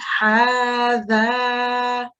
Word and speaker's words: هذا: Brilliant, because you were pronouncing the letter, not what you're reading. In this case, it would be hadha.